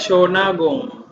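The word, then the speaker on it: Shōnagon: ya lihat yang ini shonagon dibacanya Sion Agung zona gong sonagol itu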